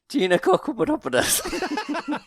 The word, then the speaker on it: Giannakopoulos: Giannakopoulos.